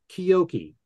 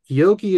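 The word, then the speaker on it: Keoki: that's a tribute to George Harrison called oh kyoki that's spelled k-e-o-k-i Oki is George's name in Hawaiian this can be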